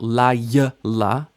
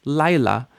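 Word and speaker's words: לילה: have two vowels Lila now you notice you don't really hear the yod right it's not La it's Lila night Lila and so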